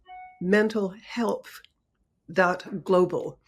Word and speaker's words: MentalHelp.Global: describing, and it's called MentalHelp.Global. And I want to pronounce it really carefully, because you want to think mental health, but no, this is mentalhelp.global.